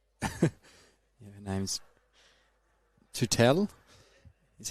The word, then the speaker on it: Tootell: Yeah, her name's Tutel. Is how you pronounce her last name? I had to ask her to start. Was it Tuttle or Tutel or Tottel? And she's like, "No, Tutel.